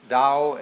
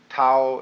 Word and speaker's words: Tao: Paul the Dao t-a-o pronounced Dao in the Mandarin dialect Tau in the Shanghai dialect toe in the Cantonese dialect take your choice Dao